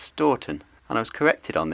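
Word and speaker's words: Stourton: that this Junction and town would be called stowton but it is in fact pronounced storton and I was corrected on this on my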